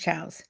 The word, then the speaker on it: chow: Brunch chows. No, chow is CIAO if you're saying bye, but if you're saying brunch chows, that's a term and it's CHOWS.